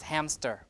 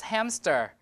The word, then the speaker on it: hamster: it's like unconscious so in the spelling there's no P but when people pronounce hamster uh I includeed I usually include the P there hamster hamster like that that's because the p matches the M the in terms of place of articulation okay or in the